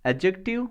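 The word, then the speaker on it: adjective: एडजेक्टिव plus noun, ध्यान रखना जब भी ए डी जे इनके ए और जे के बीच में जब भी डी आएगा तो डी क्या होगा, साइलेंट होगा, तो एडजेक्टिव पढ़ेंगे, ठीक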